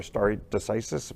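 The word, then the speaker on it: stare decisis: people that they'll they'll honor starry decisis that's the correct way to say it you know for president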